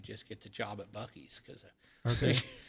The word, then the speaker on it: Buc-ee's: Buc-ee's, Yes. yeah. I always want to say Busey's because that's what my buddy Scott says.